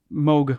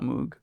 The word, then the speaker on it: Moog: of the Moog or remote thing it's a mogh wants to be called mogh not Moog but a lot of people who are not